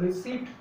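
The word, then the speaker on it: receipt: তার মানে এখানে এই পি এটা কিন্তু সাইলেন্ট থেকে যাচ্ছে. Here P ইজ a silent consonant, এখানে পি এর উপরে কোনো রকম জোর নেই, এই পিটা এখানে সাইলেন্ট থাকবে.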